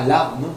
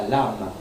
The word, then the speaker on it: lame: Not la lame, but la lame. Lame. It's just A-M-E. Lame.